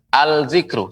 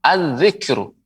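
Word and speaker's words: الذكر: Ya, tidak pengucapannya dengan al-zikru, salah. Ya, keliru. Tapi dilebur az-zikru.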